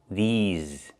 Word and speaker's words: these: And I use a long e like green beans plus the zz sound like in zebra with a voice vibration. Zz these.